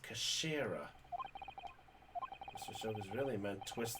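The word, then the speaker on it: 頭: Its head in Japanese pronounced Kashira.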